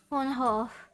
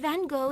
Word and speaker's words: Van Gogh: Well, it's actually pronounced Van Gogh in my native Dutch, but Van Gogh is how I'm known in your country, so please just call me that.